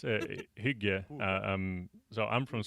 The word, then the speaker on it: hygge: Yeah, Huga. Do you know it? yeah, Oh, yeah. I It's just I just googled it. yeah, it's Hygge.